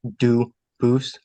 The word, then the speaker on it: Dubus: I know a family with the same exact spelling in America, and they do pronounce it Dubus, but you said you pronounce it Dubus, Dubus? as the original Dubus, as the original French.